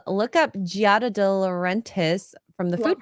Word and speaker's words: Giada: What do everybody know when you say Giada De Laurentiis? What is it? Oh, I said her name wrong. Yeah. Giada.